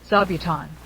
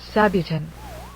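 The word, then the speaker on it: 座布団: I know who it was, because they could only pronounce the Japanese word zabuton as sabuton, because they were made to recite the imperial rescript, and could not recite it.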